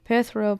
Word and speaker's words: Perthro: Perthro, pronounced perthro, which is in the shape of a